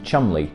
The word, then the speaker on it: Cholmondeley: The Three Wrens distillery is based in Cholmondeley, Cheshire, and the only reason I know how to pronounce that word properly is thanks to the character created by Harry Enfield.